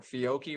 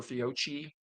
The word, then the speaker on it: Fiocchi: Or Fiocchi or Fiocchi, depending on Yes. how you pronounce it?